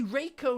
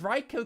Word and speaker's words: Reiko: I say Reiko instead of Reicho Kashima now.